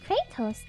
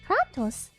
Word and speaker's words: Kratos: for the recommendation i think kratos is how they pronounce it in game but kratos might be closer to the original greek pronunciation ah that would explain